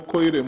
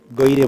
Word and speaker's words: Goire: This is Honorable Koire. You are Honorable, eh? Okay. Goire. Goire is Goire. my name. Goire, not Koire.